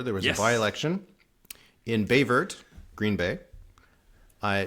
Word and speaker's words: Baie Verte: was a byelection in bayt Green Bay I that is how it's pronounced I I found it it's pronounced BT BT um to get get